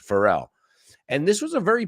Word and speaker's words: Pharrell: Thicke and Pharrell Williams I know you say Farrell we say Pharrell well he says Pharrell and this was a